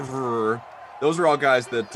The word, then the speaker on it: Favre: Well, Brett Favre reverses the V and the R. Favre.